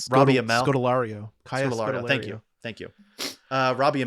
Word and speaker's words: Scodelario: Scodelario.